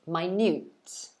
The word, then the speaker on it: minute: so well done annie the answer is b yes my newt very good so it should be that clock is so minute i can hardly see